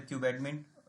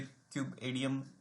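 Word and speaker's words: kubeadm: Kinnaird using क्यूब एडीएम कई लोग बोलते क्यूब एडीएम क बोलते क्यूब एडमिन सो यूली क्यूब एडीएम हम लोग जनरली प्रोनाउंस करते हैं जो कि बेसिकली आज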